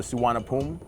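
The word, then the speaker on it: Suvarnabhumi: ruling networks delavo and the suwanapum which is the correct pronunciation for the nice airport eventually the ethnic mon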